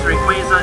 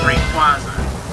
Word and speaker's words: Rayquaza: Rayquaza's name is oftentimes pronounced as Rayquaza. This makes sense and all, and I even find myself pronouncing it that way, but its official pronunciation is indeed Rayquaza.